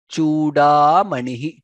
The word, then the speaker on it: चूडामणिः: Deva Shikha Manir Dishatu no Gopala Chuda Manihi. Chu there is dirgha there. Chuda Manihi. That's how it needs to be pronounced.